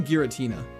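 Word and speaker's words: Giratina: What? Geratina. Yes. Geratina. That's a crime. It's definitely Gueritina.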